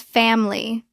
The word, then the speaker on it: family: It looks like familiable natural pronunciation. We often drop the middle I. It becomes family. Two syllables.